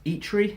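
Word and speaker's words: Eitri: talk of him playing I think it's pronounced eat read and he's king of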